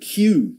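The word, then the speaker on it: queue: Uh, the word Q. Q Q, which is strange word in terms of its pronunciation because it's basically the letter Q followed by four unnecessary letters, isn't it?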